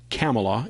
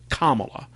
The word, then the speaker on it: Kamala: fox news co host called her camelot a leftist guest corrected them saying she pronounced it kamala so to me she